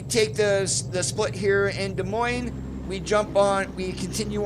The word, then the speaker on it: Des Moines: Alright, and just a reminder, the proper way to say the capital of Iowa is Des Moines. You do not pronounce the S in Moines, it's Des Moines.